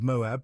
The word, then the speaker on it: Moab: into the land of Moab pronounced almost in one syllable to earn a living